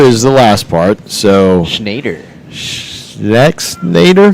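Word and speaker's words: Schexnayder: So Schnader. Nader? Shader. So the X is silent.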